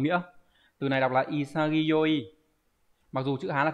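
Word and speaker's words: 潔: bài thì là từ đồng nghĩa từ này đọc là isagi mặc dù chữ Hán là chữ Khiết nhưng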